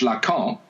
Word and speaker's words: Lacan: Oh no, because no, no, because when you say in French Lacan, you can spell it LACAMP. So had his name been LACAMP, you would have pronounced it in exactly the same way, right?